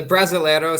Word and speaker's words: Brasileiro: How do you pronounce the Brasilio, however it was spelled out? So it's the Brasileiro Serie A, and the first